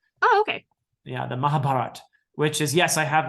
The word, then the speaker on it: Mahabharata: gonna butcher the name Mahabharata yes yes people people over there these days don't say that final a even though it it's there this so they say the Mahabharata oh okay yeah the Mahabharata which is yes I